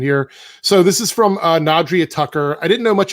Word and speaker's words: Nadria: Chosen one, 4-eyed raven, first chair flute, she, her, pronounced like Adrian with the end of the front. So Adrian. So it's Nadria. Okay. There's no N on it.